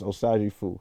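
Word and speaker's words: Osagyefo: The real name is Osaji Fu. It's spelled just like Osagye, but with a FO at the end.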